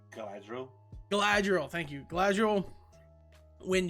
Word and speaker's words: Galadriel: I always pronounce her name wrong. Is it Galadriel? Glad? Yeah, so Galadriel.